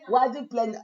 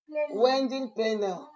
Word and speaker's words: wedding planner: Bien prononcer le mot parce que Tata Lili ne connaît pas les mots en anglais. On appelle ça quoi? Wedding planner. Ah, tu prononces bien.